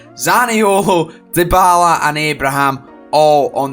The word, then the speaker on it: Zaniolo: got dispatched of 3-0, Zaniolo scoring once again, that's not how you say his name, Zaniolo, Dybala and Abraham all on the score sheet.